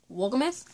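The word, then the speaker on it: Wolgemuth: to be Lies Won't Believe by Nancy DeMoss Wolgumeth, right?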